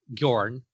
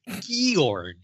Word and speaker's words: Bjorn: I would say Bjorn, one syllable, like fjord. Yeah. But the graphic audio says Gjorn, and it drives me insane.